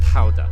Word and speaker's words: Gouda: And it would be somewhere around 1184 when the first records of the famous Gouda showed up, or pronounced Gouda if we're trying to be Dutch about it.